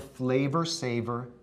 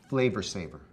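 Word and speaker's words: Flavr Savr: It was called the Flavor Saver tomato. That's spelled F-L-A-V-R-S-A-V-R, Flavor Saver.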